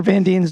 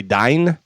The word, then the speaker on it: Van Dien: Is that Casper Van Dien's daughter? She is attractive, certainly. Dean is spelled D-I-E-N. Yeah, she's cute. Could be Dine. No, it's Van Dien.